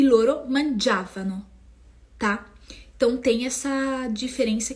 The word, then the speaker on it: mangiavano: Io mangiavo, tu mangiavi, lui, lei mangiava, noi mangiavamo. E aqui é muito importante, prestem atenção aonde vai a sílaba tônica do verbo. Ó. Noi mangiavamo, voi mangiavate e loro mangiavano. Mangiavano, tá?